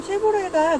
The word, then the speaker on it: 쉐보레: 같아요 쉐보레는 자동차 브랜드고 여러분들이 지금 쉐보레 라고 읽었다면 브랜드 명을 잘 알고 있는 거고요 이것을 저희는 말로 표현될